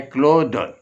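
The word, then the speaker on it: clothe: क्लॉथ ये noun है, इसमें अगर हम ई लगा दें सिर्फ ई तो ये बन जाता है वर्ब, और इसका तलफ़्फ़ुज़ जो है प्रोनाउंसिएशन वो भी तब्दील हो जाता है, ये बन जाता है क्लोद। क्लोद, देखिए THE से आवाज़ निकलती है द, तो ये क्लोद पढ़ा जाता है और इसका माना है पहनाओ।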